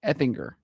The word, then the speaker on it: Effinger: The ger at the end is like finger or singer, not jur. Effinger.